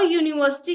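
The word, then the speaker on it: university: ये साउंड के बेसिस पे हम कुछ मॉडिफिकेशन है जैसे ए अ यूनिवर्सिटी कहते हैं क्योंकि यहां पे जो यू है उसकी जो साउंड है वो वाई यू से शुरू होती है तो इसके आगे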